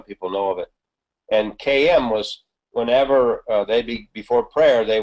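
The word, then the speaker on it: caim: Yeah, it's a Celtic word, KM, pronounced KM, but it's spelled with a C, C-A-I-M, C-A-I-M.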